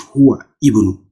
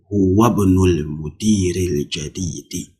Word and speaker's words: هو ابن: How are you going to pronounce? Huwab, not huwa ibnu, no. Huwabnul mudiril jadidi.